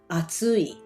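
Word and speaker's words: 暑い: metcha in japanese that's how you say it atsui that's the um correct pronunciation for heart super hot that's what it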